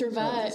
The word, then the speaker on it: Rivette: If there's two consonants in French, like two T's, then you have to pronounce it.